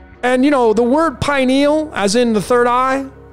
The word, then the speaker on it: pineal: So pineal is a two-syllable word, pi and neal. And remember, it's pineal is pi.